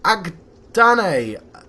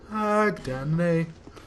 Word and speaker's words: Agdayne: Oh look, Grave Warden Agdannon. Agdayne. He said his name, didn't he? And I can't bloody pronounce it.